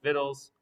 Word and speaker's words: victuals: dialect term for food more formally spelled victuals but still pronounced like vittles the different kind of